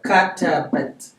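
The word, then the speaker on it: كتبت: I just add an at. Okay. Katabat. Oh, so silence that vowel. I silent the ta. Remember how to silent? You just put a 0. So this is katabat.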